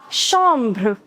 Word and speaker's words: chambre: We say la chambre. La chambre. The pronunciation of CH in French is always sh. It's la chambre, right?